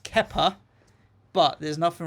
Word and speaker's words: Kepa: It's pronounced Kepa, but there's nothing wrong with having a keeper called Keeper.